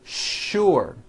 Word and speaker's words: sure: is that there are some words in English that are written with the letter S but are pronounced with the SH sound words like sugar and sure and to make things